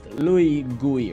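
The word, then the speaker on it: LouGUI: it's like a guy it's pronounced Louie guy right it's like a graphical user interface so it's I'm just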